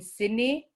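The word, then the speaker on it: sinik: words and the word for sleep is often sydney s i n i k and any any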